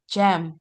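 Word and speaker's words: gem: G ketemu E, jam.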